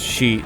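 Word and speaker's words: 四: yeah Japanese Superstition four is unlucky because it's pronounced sheet which is the word for death yeah you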